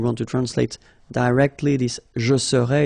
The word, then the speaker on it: serais: to translate directly this je serais, it's I would be. Okay? But then in French we've got only one form like that. Remember, so AIS, but then you don't pronounce the final S.